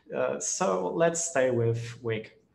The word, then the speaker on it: Wic: too hard to remember and too hard to pronounce so let's stay with wick it's used to create a partition image it's